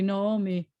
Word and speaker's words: Naomi: So this is always going to be Naomi and or Naomi, however you pronounce either O or O, but it's got to be the same one. It's not going to be Na, O, me.